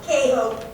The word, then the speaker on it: KHOPE: tonight is all about cajo presents the accent's on the second syllable because it's a verb leave it to you